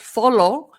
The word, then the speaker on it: follow: Fa, not follow. Fa, it's a schwa sound. Follow. So the two O's sound different. Fa, low, low.